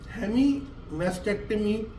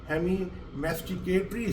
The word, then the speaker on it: hemimasticatory: spasm painful and masticatory, I want to say not mastectomy, I have to pronounce properly, hemimasticatory spasm, I beg your pardon, hemimasticatory spasm.